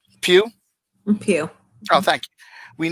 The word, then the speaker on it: Pugh: Sorry if I'm pronouncing her name wrong. Pugh.